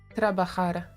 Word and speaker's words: trabajar: Pronunciation. Trabajar.